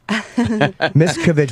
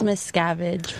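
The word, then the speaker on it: Miscavige: Miskovich, we're saying the name right. It's Miss Scavenge, but Miss Cabbage.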